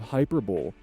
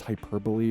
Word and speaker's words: hyperbole: some liberal usage of hyperbol. Yes, I know it's hyperbole, but a part of me kind of just wants to make that voice pronounce it that way.